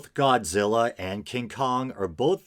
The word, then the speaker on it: Godzilla: that and i think isn't godzilla his name is supposed to be pronounced gojera i think or something like that